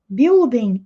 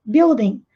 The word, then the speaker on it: building: na frente do prédio Wilden é o prédio e nós não pronunciamos a letra U beauden nem a letra g Nem um nem G Wilden with some pode pão